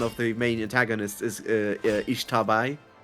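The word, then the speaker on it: Xtabay: Because I play Guacamelee, and one of the main antagonists is Ishtabai. Mm-hmm. Which I pronounced Ixtabe, and I was corrected by the Gua community.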